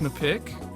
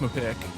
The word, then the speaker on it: MPIQ: we'll be reviewing mpiq i believe it's pronounced mepic is this a tomato or tomato kind of situation no it's definitely just pronounced my pick i don't even know